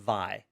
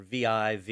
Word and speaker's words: Vi: So I mentioned in a earlier show, there's a text editor called Vi, or V-I-V, you can pronounce it however you want.